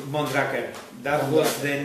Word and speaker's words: Mondraker: we come from from Spain and we call Monica that was the name in at the beginning